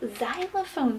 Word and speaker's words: xylophone: Also, xylophone starts with the letter X, but it's a tricky one. It sounds like a Z, but it actually starts with the letter X.